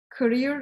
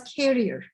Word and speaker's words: career: Like, for example, a lot of Metü faculty, I heard the word career. Career is, you know, your career, the thing that you do, progress in your job, etc. They pronounce it as carrier, right? The carrier that we have in communication.